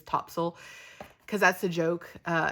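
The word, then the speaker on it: Topsail: funny because you know based on the way it's spelled everybody who's not from here calls it top sale um even though all the locals and everybody else calls it topsil you'll even go into some of the shops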